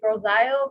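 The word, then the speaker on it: Grosse Ile: michigan gro fse isles some people say girls i o but i think it's gross view that's right is that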